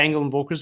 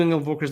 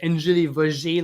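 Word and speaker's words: Engel & Völkers: Nobody knew Angle & Volkers, let alone how to pronounce it. Like all the Frenchies of the South Shore was like Angeli Vaugier. Like they couldn't say it.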